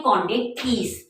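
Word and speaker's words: Chondrichthyes: कोंड थस कोंड okay थोड़ी सी spelling इसकी hard है बट इसको बोलते हैं कोंड थस और ये इसकी जो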